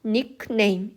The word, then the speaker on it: nickname: 그래서 우리는 이거를 지금 닉네임 이런 식으로 발음을 하잖아요. 근데 이것은 한국식 발음이라는 거예요. 영어대로 발음을 하면은 K 발음이 살아있거든요. 그래서 nickname 이렇게 발음을 해야 된다는 거예요.